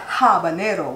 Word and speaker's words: habanero: some habanero you know not habanero with a banana because I think it's a Spanish pronunciation so the H is silent this looked wet enough